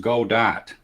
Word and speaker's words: Godot: Godot can also be pronounced Godot. Yeah. Well, it's like has like French origins or something like that, I think. Tim Berners-Lee had a project so it's for more spelled like Home Depot, the depot part.